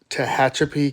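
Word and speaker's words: Tehachapi: The correct pronunciation of that town is Tahachapi, California.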